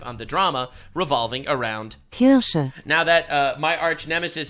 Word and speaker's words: Kirsche: Yeah, so anyway, that's him crashing out again about me and about Kirsche, specifically, or as I like to call her, Kirsche. because I actually care about pronouncing her name correctly, unlike everybody else.